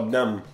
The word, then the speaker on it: dumb: Próximo, essa daqui, o B não se pronuncia. Se escreve dumb. Mas a gente nunca fala o B, a gente só fala dumb.